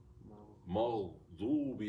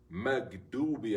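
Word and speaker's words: مغضوب: We have ghayrul maghdubi alayhim. There's a dod. Maghdubi alayhim. But what do we say? Magdubi alayhim. We get them all wrong, right? The ghayn is not correct, and neither is the dod, right?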